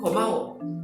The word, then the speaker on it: 고마워: similar with 감사합니다 is 고마워. 고마워. Okay, 고마워. So this is ko as well. 고마워. 고마워. But it's not really G sound. It's not go, but it's not really ko, but it's 고마워.